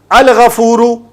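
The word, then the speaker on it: الغفور: Al-ghafuru, when we pronounce al-ghafuru, lam is being pronounced.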